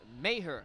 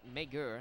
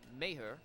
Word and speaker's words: Mager: Now I'm being told his pronunciation, thank you Steve Iwanski, is Maher, not Mager. There's a G in his name, but it's pronounced Maher.